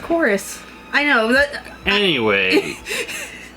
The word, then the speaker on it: Chorus: it's that's a v it's a v but it's pronounced chorus that's a v it's pronounced chorus i know that anyway